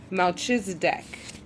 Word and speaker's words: Melchizedek: Melchizedek is the way that you pronounce his name, okay?